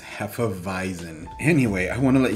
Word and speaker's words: hefeweizen: Yeah, I had to look up how to say that, and apparently it's pronounced hefeweizen.